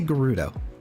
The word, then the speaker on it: Gerudo: Did I say Gerudo? I usually say Gerudo with a soft G. Who has corrupted me? The second pronunciation is correct.